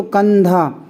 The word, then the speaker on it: कंधा: तो यहाँ पर भी आप अगर पढ़ेंगे तो कंधा, इस अनुस्वार का जो उच्चारण होगा, जो उच्चारण ध्वनि निकलेगी वो ना निकलेगी, क्योंकि धा जो है अनुस्वार के बाद है और ये धा है ये ता वाले वर्ग में आता है।